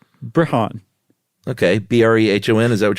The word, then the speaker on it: Brehon: Brehon. Okay. Brehon. Is that what you're going to go with? Yeah, it rhymes with Breton.